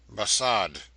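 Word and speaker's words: Barsad: "Bassad," said Defarge, making it French by pronunciation.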